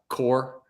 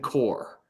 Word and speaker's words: Corps: So somebody PayPal with the name Core, and core is spelled CORPS.